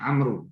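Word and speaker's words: عمرو: Jadi kalau kita menulis ain mim ra tanpa wawu di belakangnya itu bacaannya Umar. Tapi kalau di belakangnya itu ada wawu ain mim ra wawu itu bacanya Amru.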